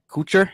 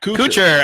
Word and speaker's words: Kuchar: I'm already forgetting how to pronounce this. Matt Kuchar. Kuchar. Oh, Take Kuchar.